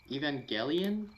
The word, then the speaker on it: Evangelion: even evangelion oh evangelion evangelion yeah it's evangelion i've been pronouncing it with like a uh a j sound dude you better hope